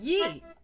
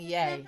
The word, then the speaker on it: Ye: other night on Fox, they were saying yay. I felt really bad for her. Oh. Yeah, and I mean, how difficult is it to phonetically write that in the prompter? Nobody corrected her. Yee. She kept saying yay.